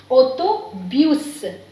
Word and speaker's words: autobus: again O, auto, and B is B, U is E, U, S is not silent here. This is an exceptional case, you can say. So we have to speak S also. So it is autobus, autobus, autobus.